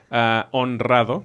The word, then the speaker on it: honrado: Honrado, después de la N. Honrado. No puedes decir honrado. Está difícil.